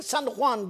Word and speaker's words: San Juan: Juan diye yazılır. San Juan diye okunur.